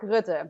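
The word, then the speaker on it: Rutte: economic forum too who's what's his name mark rude yes mark is very very deeply involved in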